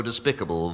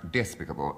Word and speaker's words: despicable: My faults are so despicable, vile, low, that only... Kenneth Williams. Deviation, the root is despite, therefore it's pronounced despicable. No, you don't accent the I.